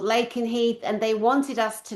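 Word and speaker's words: Lakenheath: It's called Lake and Heath. And they wanted us to know where that craft came from. So, I I love that it's on that list. and RAF Lake and Heath also services USA and UK personnel military.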